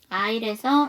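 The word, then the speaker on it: aisle: 단어가 있나요네 있어요 뭐예요 아일에서 S 바른 묵음이에요 자 그다음 슬라이드에도 모금을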